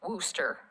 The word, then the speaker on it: Worcester: And you pronounce his last name Wooster, like rooster. Almost. So it's not like the sauce. It's not the Worcestershire sauce. Yes, well, without the Shire. Yes. Worcester part is how you pronounce it.